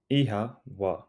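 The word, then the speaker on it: oíche mhaith: together repeat after me ehaa e ha it sounds like e ha the O has a long sound and the MH is pronounced like a soft w e how craving more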